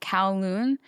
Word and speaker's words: Kowloon: So her skull was held at the I can only think it's pronounced Kowloon, but that's the American way of thinking because it's K-O-W and C-O-W is cow.